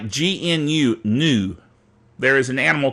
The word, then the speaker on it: GNU: Linuxy type folks like recursive naming, like GNU, new. There is an animal called a new, and it's pronounced the same as NEW, new, but GNU is news, not Unix.